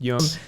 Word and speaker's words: Jung: It's initially a German name, so it would be pronounced Jung.